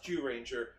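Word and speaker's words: Zyuranger: on the buckle it's zoo ranger it says it's pronounced jew ranger but the thing is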